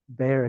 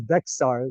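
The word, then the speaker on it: Bexar: And I just realized that for the longest time I've been mispronouncing Bayer County. I thought it was Beexar this whole time.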